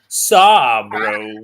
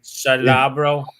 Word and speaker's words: Sabro: Sabro. Wow. Sabro. Say it correctly, Joe. Sabro is a real good one. Salabro.